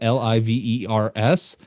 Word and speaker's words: Livers: i said virgil livers it's spelled l-i-v-e-r-s it's livers virgil livers i think or unless i'm butchering it again well i you know